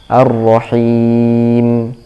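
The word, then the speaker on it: الرحيم: Perhatikan juga di huruf mim terakhir, him. Ya, ada yang membacanya dengan terlalu dirapatkan bibirnya sehingga suaranya terputus ya. Him, im, seperti ada huruf P di akhir. Him, ab gitu, seperti atau ba. Ar-Rahim. Mimnya harus jelas. Jadi bibirnya tidak terlalu dirapatkan.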